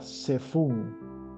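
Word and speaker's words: צָפוּן: palabra que es igual se escribe igual pero cambia con una una yud y se pronuncia diferente y es la palabra sefun safon es norte y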